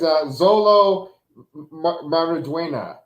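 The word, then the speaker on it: Xolo Maridueña: His name is Zolo Mariduena.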